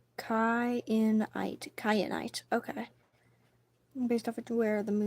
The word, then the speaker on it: Kyanite: Kyanite? How would you pronounce this word? Kyanite is how I'm wanting to say it.